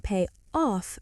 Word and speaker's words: pay off: The stress is on off. I'm trying to pay off my credit card.